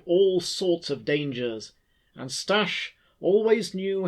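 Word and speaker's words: Staś: She would always say stess instead of stash, and this often caused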